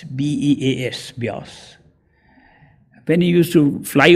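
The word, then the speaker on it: Beas: to a place called bias b-e-a-s bias when he used to fly over the map he would look at the map he used to pronounce it bees and miss it he told me the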